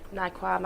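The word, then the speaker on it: Naiqama: Are 2 St Helens signings in Kevin Naikwama. I can never. But it's spelt with a Q.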